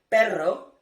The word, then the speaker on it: perro: But when you see two R's, okay, and one word, automatically it's gonna be hard sound. The famous typical example of perro and pero.